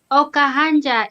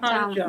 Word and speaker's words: Okahanja: Oh, Okahanja is my hometown. Okahanja. Not That's it, yeah, Okahanja.